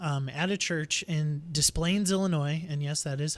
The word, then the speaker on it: Des Plaines: in this preschool um at a church in Des Plaines Illinois and yes that is how you pronounce it um and they had the most